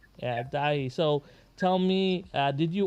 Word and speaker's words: Daithi: So and how do you spell it? Dahi, right? Is that how Dahi. to say? Yeah, Dahi.